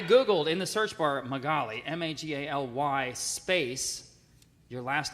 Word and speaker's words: Magaly: It's like, oh, Magaly. my golly. Oh, Magaly. That's a good way to remember it. I Googled in the search bar Magaly, M-A-G-A-L-Y space, your last name came up next.